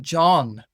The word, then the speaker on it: John: But then I just kind of noticed like the name John has a H in it and we don't pronounce that H and we don't even notice it's there.